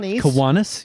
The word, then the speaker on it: Kiwanis: Look, they told me that I was going to talk with a guy from Kiwanis. Did I pronounce that right? Kiwanis? Kiwanis? Kiwanis, yeah.